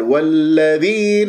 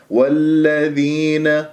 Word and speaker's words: الذين: كلمة الذين احرصوا على عدم الاتكاء على حرف الذال. والذين ينفقون، هذا خطأ، ويصير عندك نبر ذين، هذه أيضا خطأ. والذين، بس بهذه الطريقة بسلاسة وسهولة، يعني باللطف في النطق بلا تعسف، والياء بعدها سكنة ما الطبيعة حركتين.